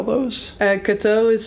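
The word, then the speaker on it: Cato: follow along can can you spell those uh kto is spelled c a t o okay and mati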